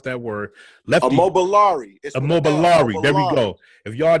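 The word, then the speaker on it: Immobiliarity: I can hardly ever pronounce that word. Immobiliari. Immobiliari.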